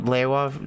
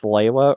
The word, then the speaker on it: Lewa: I was confused about Lewa name for a while. Yeah, like... I think that's still an argument to this day if it's Lewa or Lewa because it's pronounced both ways in the movie.